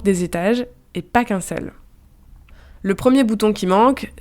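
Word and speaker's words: 四: Le chiffre 4 par exemple, il se prononce se en mandarin. C'est presque la même prononciation que le mot mort qui lui se prononce ce avec un ton juste différent.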